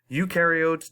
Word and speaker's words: eukaryotes: a nucleus and these include all things bacteria eukaryotes do have a nucleus inside their cells and